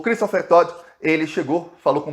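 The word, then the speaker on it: Dodd: É um T que é D, o nome dele é D-O-D-D, mas fala T. Essas pronúncias americanas. Tá, o Christopher Todd, ele chegou, falou com o Bolsonaro por mais ou menos 1 hora.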